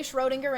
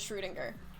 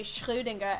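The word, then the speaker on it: Schrödinger: like ooh than oh people say schrodinger in english but more correctly it is schroedinger i could be a dick and say srirenga every time i just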